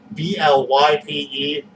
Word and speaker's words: blype: BLYPE, rhymes with Skype.